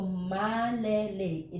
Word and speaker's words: malilate: See, malilate, when we pronounce the word late, the first syllable is le, right? Male. Because we don't have the le, we don't have the a sound, the long a sound, then we use the e. So malelate. This is not male. Remember, in Filipino, we read it by syllable. So malelate. Hindi na ako malilate.